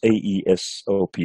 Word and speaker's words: Aesop: But I specifically, my mom exposed me to the Aesop's fables. Some people pronounce Aesop is A-E-S-O-P, a Greek Aesop.